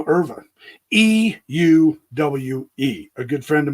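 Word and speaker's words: Euwe: This is a Smyslov, and he's playing Erva, a world champion. M. Erva. E-U-W-E. A good friend of mine who played chess with me for a while said it's pronounced Erva. I was calling him Yui, and he goes, "What?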